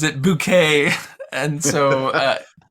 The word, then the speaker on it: Bucket: family this woman her her last name is bucket which is like the most and but she pronounces it bouquet and so uh it's it's there's also a